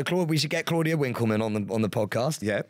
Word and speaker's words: Winkleman: it with a v no you pronounce it with a W Winkleman no it's VLAN it